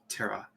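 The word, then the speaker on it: tarot: bag and grabs his tara deck pulls up yeah the final t is silent by the way yeah tara he goes ahead and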